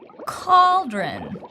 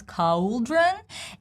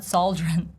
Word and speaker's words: cauldron: And seeing A-U letters, some people, they mispronounce cauldron, and some people, they don't know that C in this particular word pronounced as K, cauldron, right? It's not sauldron, it's cauldron, cauldron.